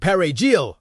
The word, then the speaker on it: perejil: Suspected Haitians were asked to pronounce the Spanish word perejil, parsley. Those who could not roll the R were executed.